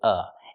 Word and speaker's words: of: of baseball very good another pronunciation option we have with of is to say uh and not pronounce the V sound at all but this is only when it's before a consonant we see the b in baseball that's a consonant so we can say I'm a fan of